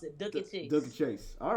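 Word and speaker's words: Dooky Chase: That's how you pronounce it, Dookie Chase.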